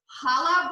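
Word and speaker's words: challah: they make it i actually prefer to use chala bread um i think it's spelled c-h-a-l-l-a-h and i get that from the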